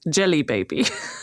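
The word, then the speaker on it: Djelibeybi: It's spelt DJELIBEBE. And when you're just reading it, you're like, yeah, cool. And if you have to say it out loud, it says Jelly Baby.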